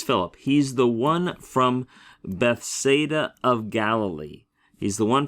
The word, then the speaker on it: Bethsaida: that's called the diarisis it means do not pronounce this as a diphthong but pronounce those vowels distinctly right and we're putting